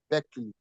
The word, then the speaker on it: Berkeley: You can see, Real of Beckley. Real of Beckley. L of Beckley is spelled, Real of Beckley is spelled EARL of Beckley. Beckley is spelled BERKELEY.